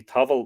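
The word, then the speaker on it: taball: it's the nation there whether it should be towel but I'll pronounce it tubble for now and we find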